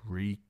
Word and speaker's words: Reek: Reek, Reek. It rhymes with leak.